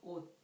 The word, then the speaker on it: 옷: The second one is 시옷. For example, 옷, 옷. The final consonant of 옷 is 시옷. It ends with T sound, 옷.